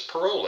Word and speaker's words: parol: Another form of evidence before we get into a more detailed discussion is parole evidence. Now, it's pronounced like you're out of prison on parole, but it's not spelled with an E.